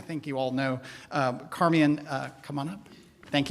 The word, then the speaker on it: Carmeon: again my name is carmian if you didn't know it is indeed car me on it's spelled phonetically carmen um and i am